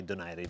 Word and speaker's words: Donaire: against nonito denied a I like to say denied a because that's really the proper way to say it I don't even know how he says it if he says Donaire I say deny him but anyway that last